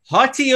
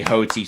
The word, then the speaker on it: HOTI: to be our weekly hottie of the week yeah he said it right oh i really want to say hoty so bad but no it's 40 of the weeks apparently um but first of all